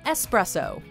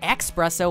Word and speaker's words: espresso: appears to be yes it's clearly spelled espresso with an S not expresso with an X and yet many continue